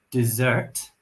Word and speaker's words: dessert: Listen to my pronunciation. Dessert and desert.